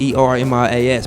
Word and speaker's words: Ermias: You know, if you look at how it's spelled like it's like Ermias, E-R-M-I-A-S, but you pronounce it Ermias.